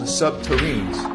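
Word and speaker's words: subterrene: SSP proponents claim that construction involved nuclear-powered tunneling machines called subterranes, rhymes with submarine, capable of melting through rock and soil, creating smooth, glass-like tunnels.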